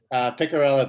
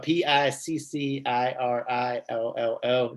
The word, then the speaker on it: Piccirillo: Piccirillo, Piccirillo, not the doctor one. There's a doctor somewhere in Iowa. That's not me. Okay, Piccirillo.